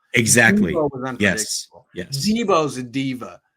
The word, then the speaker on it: Deebo: These are some of the things that I see is, well, Deebo's a diva. And why is he a diva? Because his name rhymes with diva. It kind of sounds like diva.